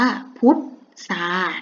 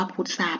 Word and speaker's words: พุทรา: เดิม เลย ค่ะ อ่ะ จะ เอา ตัว ท. ทหาร กับ ตัว เรือ แทน ตัว ซอโซ่ นะ คะ เตรียม ตัว สู้ ๆ คำ นี้ อ่าน ว่า พ่อ อุดร พุดซอ อา ตา ออก เสียง ว่า พุทรา นะ คะ คำ นี้